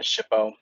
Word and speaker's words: SHPO: The first is a State Historic Preservation Office or SHPO .